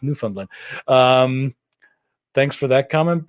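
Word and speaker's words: Newfoundland: I pronounced Labrador right I recently learned it's not New Foundland it's new fundland um thanks for that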